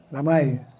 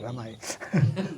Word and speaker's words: damai: Oh, damai. Damai. Not ramai. Damai.